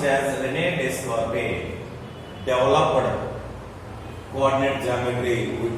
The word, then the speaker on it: René Descartes: So written as René Descartes, but pronounced as René Descartes, developed coordinate geometry.